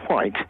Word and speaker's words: White: Yes, you you do speak correctly because my name is White. That's my surname. And I always pronounce my H.